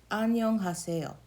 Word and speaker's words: 안녕하세요: So the first block is an. Not even the second N, just one N. An. And then the second syllable block is actually this whole thing. Nyong. Next syllable block is ha. Next syllable block, se. And the last syllable block, yo.